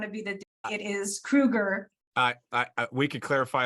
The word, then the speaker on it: Kroeger: stops the whole interview and he goes it's kruger and i sort of looked over jerry i